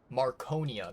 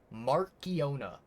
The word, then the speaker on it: Mariona: Um, Maroneia. That's her name. Marone. Wait, no. Hold on. I mispronounced it. Mispronounced it. Mariona. Mariona. Okay. Not Maronia. Mariona.